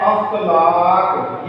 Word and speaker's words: اخلاق: بغض۔ نیا لفظ ہے، یہ بھی عموماً ہم اپنے معاشرے میں غلط تلفظ کے ساتھ ادا کرتے ہیں، اخلاق، یہ زبر ہے، ہم یہاں پہ زیر کرتے ہیں، اس کو کہتے ہیں اخلاق۔ فلاں شخص کا اخلاق